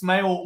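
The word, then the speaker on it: Smael: This time it's Smail Mondon Jr. a linebacker uh pronounced like smile I've just seen in Cory's article.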